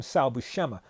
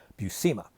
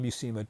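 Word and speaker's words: Buscema: um like Salucma and some call him Salushama. No, I've heard him interviewed his he pronounces his last name Bucimma. Sal and John Bucima.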